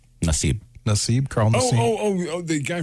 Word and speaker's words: Nassib: Nassib, is that how you pronounce his last name? Nassib, Carl Nassib.